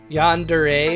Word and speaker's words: yandere: Yandere is how you say it.